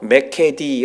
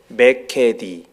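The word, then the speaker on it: μηκέτι: 다시는 이라고 하는 말은 헬라어로 매 캐디 라고 읽습니다 한번 따라해 보십시오 매 캐디 우리차 키도 따라 하시고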